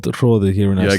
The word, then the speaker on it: Hrodi: The pronunciation? A little bit. Not really? My name is Hrodi.